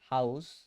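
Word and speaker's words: Haus: এইচ কে হা, এটার উচ্চারণ হবে হাউস।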